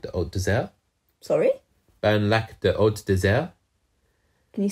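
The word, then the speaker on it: Bernlak: Green Knight uh Reveals His Name which is burlak the OD Des sorry burnac the OD Des can you spell that please burn laac spelled here is b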